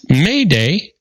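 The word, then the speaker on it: m'aidez: The term Mayday, used for signaling for help after SOS, It comes from the French term m'aides, which is pronounced Mayday and means help me.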